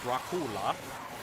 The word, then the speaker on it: Dracula: First of all, in his native language, it would have been pronounced Dracula, and it is a diminutive version of the word Dracul, which was what his father was known as.